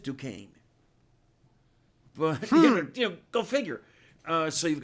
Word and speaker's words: Duquesne: I say, I live next door to Duquesne because here they pronounce it Duquesne.